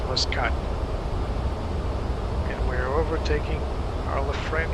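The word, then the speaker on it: Muscat: Okay, it's not mus 128. At least the pronunciation that I know is mascot and we're overtaking our friend here.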